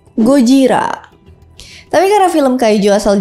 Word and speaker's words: Gojira: dengan l sama seperti Godzilla yang sebenarnya disebut gojira tapi karena film Kaijo